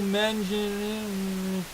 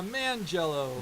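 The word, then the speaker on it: Manganiello: I can never pronounce his name right. Neither can I. I always want to say, Mangello. Yeah, Mangello. There we go. Yeah, Mangello. Joe Mangello.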